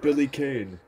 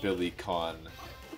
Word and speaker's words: Billy Kane: Oh shit, Billy Kane. No way, it's pronounced Billy Kahn.